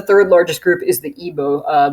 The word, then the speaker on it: Igbo: largest group is the igbo uh the g is silent important that you remember